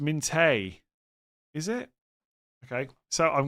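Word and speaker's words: Minteh: It's pronounced Minte.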